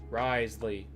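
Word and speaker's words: Wriothesley: I'm down for that Risley Risley so the W is silent possibly Darren oh hi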